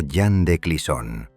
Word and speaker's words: Jeanne de Clisson: Allí vivía una mujer llamada Jeanne de Clisson, pronunciado Jeanne de Clisson, perteneciente a una de las familias más nobles y respetadas del reino.